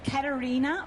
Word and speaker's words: Caterina: so I'm Italian and it's Karina with a c because there's no K in the Italian language and it's so